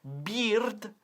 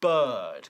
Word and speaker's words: bird: No decimos beard, sino bird, con un sonido bird.